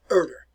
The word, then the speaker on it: Herder: Johann von Herder. Now, in German, very often you make the H sound silent. So, Johann von Herder.